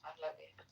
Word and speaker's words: Pahlavi: It's Pahlavi.